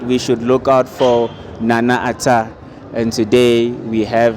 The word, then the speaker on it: Nana: as long as you say it correctly the pronunciation it's nana okay yeah i know good to finally meet